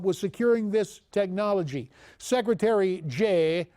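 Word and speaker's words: Jeh: securing this technology secretary Jay rhymes with may Johnson says this quoting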